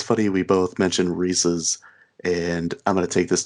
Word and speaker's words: Reese's: funny we both mentioned reese's and i'm gonna take this time to say it's reese's not reese's because i hate when people say reese's it drives me insane